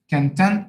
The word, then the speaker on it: content: by the way, but when it pronounced as content, stress shift, second syllable, content, it becomes a different meaning, a different word, a different part of speech, a different meaning.